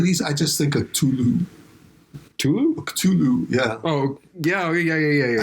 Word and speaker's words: Cthulhu: I just like to, any Lovecraft, like, weird, evil name, I always like to pronounce it like I have a date stuck in my throat. You know? Cthulhu.